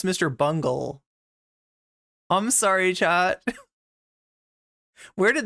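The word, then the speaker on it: Mr. Bungle: of the western male Mr bunghole was an old school did I say that name wrong did I pronounce that that name wrong I believe it's Mr Bungle I'm sorry chat where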